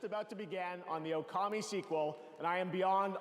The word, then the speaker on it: Okami: Production is just about to begin on the Okami sequel, and I am beyond honored we could share this very Well, technically it's pronounced Okami.